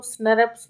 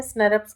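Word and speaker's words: snRNP: आर एन पी हैय इसको स्नर्स भी बोलते हैं ठीक है इसका जो प्रोनंसिएशन होता है प्रोनाउंस जो हम इसको करते हैं वह क्या करते हैं स्नर पस करते हैं यानी कि स्मॉल न्यूक्लियर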